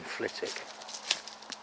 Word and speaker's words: Flitwick: have they got in flitik swiftly on although anybody from the area doesn't pronounce the w nobody calls it fleetwick there are one or two estates in flitik where they don't even